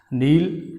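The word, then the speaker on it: kneel: कैन आने पर के की आवाज़ नहीं निकालते, एन से शुरू करते हैं पढ़ना, के को साइलेंट कर देते हैं, लिखने में आता, बोलने में नहीं आता है। नील, टील, फील, मील, हील।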